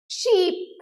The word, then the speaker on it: sheep: Sheep. এখানে double E and it is pronounced as I.